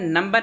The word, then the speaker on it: know: आगे बढ़ते हैं, अगला है नंबर 8, 8वां, के खामोश, यानी के कहाँ पे साइलेंट रहता है। इसका कायदा ये है कि इन से पहले आया हुआ के खामोश यानी साइलेंट रहता है, और इसकी अलामत यह